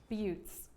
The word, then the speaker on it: buttes: it is again okay so it doesn't say butts but like it almost says butts like this close to saying butts but it's pronounced beauts okay whatever let me ask